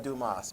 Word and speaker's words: Dumas: i think you're right i think it's alexander dumas because that makes much much more sense okay